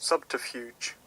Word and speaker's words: subterfuge: or something like that subterfuge subterfuge like this subterfuge that's it the sea in order to achieve